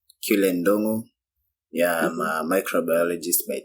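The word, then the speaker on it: Ndung'u: Okay, Ndun'gu. What? I've been saying this the wrong way. Nah, it's not wrong. Some people pronounce it the way you do, but mine is pronounced Ndun'gu.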